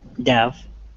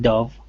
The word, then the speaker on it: dove: these two words um maybe the first one dev uh and the second dove yeah so the vowel sound changes yeah i'm not sure yeah i think you got it pretty much right the first one is uh like dove and the second one is oh like dove is there a difference